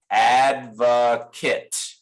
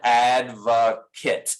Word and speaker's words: advocate: a noun and it's spelled the same way but we say it differently right so this is an adverkit and adva kit the verb is to advocate all right and the